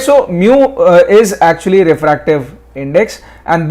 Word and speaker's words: mu: mu this is this is red as mu m u mu this is how you pronounce it so this is called mu and